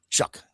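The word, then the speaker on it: Shough: Shuck. Like shuck and corn. Shuck the corn.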